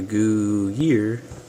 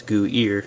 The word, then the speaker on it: Goodyear: It's different here, goo year. Here it's goo ear.